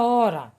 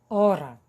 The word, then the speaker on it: hora: escutar então tá e na palavra hora e lembrando que a letra h não possui nenhum som é uma letra muda o h é mudo é a única letra